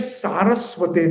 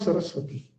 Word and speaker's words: Saraswate: It's Namam Vishnu Padaya Krishna Prishta Bhutale Srimate Bhakti Vedanta Swami Niti Namine Namaste Saraswate Devi. It is not Saraswati. Most of the devotees, they pronounce Saraswati. It is completely wrong.